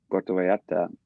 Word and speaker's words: Puerto Vallarta: Yeah, I always say Puerto Vallarta because that's how they say it, Puerto Vallarta. But so we rented a condo, and we spent the winter in Puerto Vallarta, and I was just managing my money.